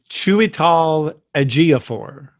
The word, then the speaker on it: Chiwetel Ejiofor: And I also like the scene that kind of introduced, I never can pronounce his name. Chiwetel? Who are you talking about? His name is Chiwetel Ejiofor.